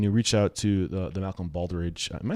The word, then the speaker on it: Malcolm Baldrige: you know, when you reach out to the Malcolm Baldrige am I saying it right? I don't know why I'm struggling with this. Yeah. Yeah, Malcolm Baldrige.